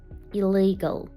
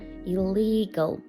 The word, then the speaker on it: illegal: Illegal. Наголос на другий склад. Illegal.